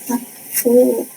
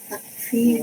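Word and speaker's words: لم تكفِ: Alam takfi bil mali. Ka'an lam takfi bil mali. Ingat lam itu menjazmkan. Karena sebelum takfi asalnya begini. Yakfi atau takfi panjang ya.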